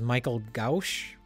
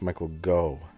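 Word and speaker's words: Michael Gough: His name is Michael Gauch, I think. No, I think it's pronounced Michael Go.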